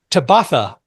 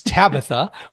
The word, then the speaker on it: Tabatha: And when my screen reader finds my guest today's name, it pronounces it Tabatha. Don't you like that? Of course, it's Tabatha, but Tabatha.